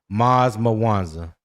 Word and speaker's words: Maz Mawanza: Maz Mawanza is his name. Okay. That's how you pronounce it.